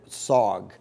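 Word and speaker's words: Sarg: of Anthony Tony Frederick SOG sog rhymes with Aug he lived from 1880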